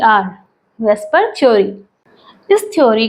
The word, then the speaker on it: VSEPR: ई प are theory इसे pronounce किया जाता है पर theory V ई एस पी आर से प्रोनाउंस किया जाता है जबकि इसका ओरिजिनल जो शॉर्ट फॉर्म है वो वी एस ई पी आर है जबकि हम प्रोनाउंस करते हैं बीई एस प आर क्योंकि हमारे लिए इसका प्रोनंसिएशन करना कन्वेनिएंट है बीई एस प आर से इसलिए हम वेस्पर थ्योरी बोलते हैं जबकि लिखा जाता है